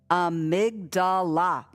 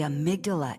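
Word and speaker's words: amygdala: there's a p-shaped thing called the amigdala four syllable words body we collect four syllable words anyway the amydala the amydala is like a detector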